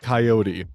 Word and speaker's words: coyote: Yes, I understand that the average English lexicon pronounces it coyote, but for me, growing up in rural Idaho, it's a coyote, alright?